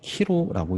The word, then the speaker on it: 키로: 정확하게는 XP, 키로라고 읽습니다.